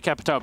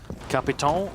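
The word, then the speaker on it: Capitão: I would say Capitao because pronouncing it the correct way would actually be like a neckbreaker kind of thing. Yeah. Is it tough? Capiton or something like, yeah, imagine saying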